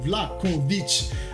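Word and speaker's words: Vlahović: Oh, on m'a dit que ça se prononce Vlahovic.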